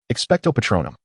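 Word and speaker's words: Expecto Patronum: Expectto patronum, expectto patronum, they echoed. Yes, that is how it is pronounced, Lupin affirmed.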